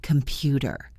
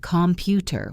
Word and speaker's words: computer: Think about the word computer. We do not say computer, we say sou. The first syllable is soft. The last syllable is soft. The stress is in the middle.